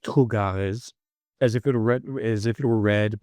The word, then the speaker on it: trugarez: t r o u g a r e z which is pronounced "trugarez" as if it were red as if it were read by a French person.